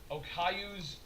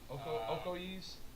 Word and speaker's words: Okoye: I can never say her name properly, but number 33 is Okayu's Okayu. What is it? Okoye's.